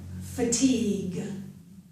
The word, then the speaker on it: fatigue: And fatigue.